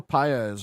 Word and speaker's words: Paez: Ernesto piya's and I hope I pronounce his last name correct he is the